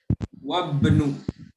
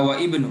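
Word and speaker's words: وابن: Ibnu wabnu. Wabnu. Ada hamzah kan di sini? Ada. Dilewatin wabnu. Enggak wa ibnu tapi wabnu.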